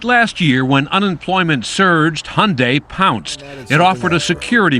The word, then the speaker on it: Hyundai: during the Super Bowl it's Hyundai like Sunday we hear Hyundai Hyundai